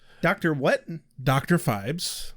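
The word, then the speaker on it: Phibes: the God damn I can't names you can pronounce Rex well that would severely limit our options yes the indominable Dr fibes Dr what Dr fibes fibes yes okay p h i b s fibes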